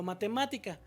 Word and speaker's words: matemática: Aunque está muy larga la palabra, por ejemplo, matemática. Que aquí contamos de derecha a izquierda. 1, 2, 3. Matemática. Esa sí se va a tildar.